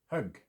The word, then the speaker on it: högg: But an example of the pronunciation difference. Hög, hugg.